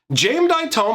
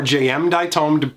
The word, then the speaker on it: Jayemdae Tome: Now, the next card we're going to look at, Jameditome or jayemdae, depending on how you like to pronounce it, is one of my favorite cards from the old days.